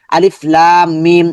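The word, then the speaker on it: الم: লাম জবর লা বলার কোন সুযোগ নেই। শুধু লামটাকে আমরা লম্বা করব।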